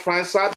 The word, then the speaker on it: França: I think it's pronounced França because the C has something under it.